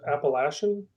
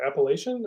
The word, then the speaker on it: Appalachian: I've heard it pronounced Appalachian. Is it Appalachian or Appalachian? Yes. Yeah, correct. It's both? Okay.